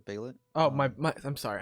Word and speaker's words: Behelit: right so we learned what the uh behelit is a little bit it's yeah no no no you said it wrong bailet oh my my I'm